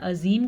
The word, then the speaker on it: عظیم: عین کے تلفظ کا خاص خیال رکھنا ہے، عظیم کا مطلب غلط بن جائے گا.